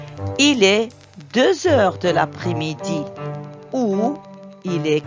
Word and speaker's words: deux heures: est deux heures heures on fait la liaison ici et je prononce Z il est deux heures il est 3h